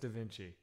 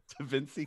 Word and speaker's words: Da Vinci: You have the most funny, you know, it's pronounced Da Vinci. What did I say? God, what did I say? He said Da Vinci. That wasn't on purpose. That one you said it twice. Dincy.